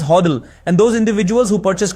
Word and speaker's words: HODL: Because of this, it began to be pronounced as hodddle.